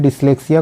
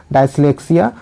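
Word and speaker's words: dyslexia: यहाँ पर क्या है, यहाँ पर इसका उच्चारण गलत दिया हुआ है, आपको यहाँ पर देख लेना है। डिसलेक्सिया को यहाँ पर डायस्लेक्सिया।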